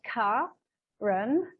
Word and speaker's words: Karen: I'm pronouncing it wrong, Karen, because I know your mother deliberately gave you this name with a K-A to be pronounced as a hard K-A, so to open up our hearts.